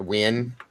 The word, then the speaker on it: Nguyen: Yeah, I was told it was pronounced Win.